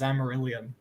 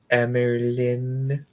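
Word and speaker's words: Amyrlin: up much later, as during her time as Amarillion. Fuck me. Codex, why are you here? It is called Amerlin.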